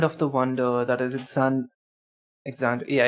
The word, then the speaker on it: Exandria: We're back to our land of the wonder, that is Exandria. Yeah, it is Exandria. I don't know why I was going to pronounce it as Alexandria.